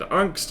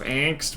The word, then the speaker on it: angst: And yes, I said unst. I know it's pronounced angst, but the tiny smidge of South African I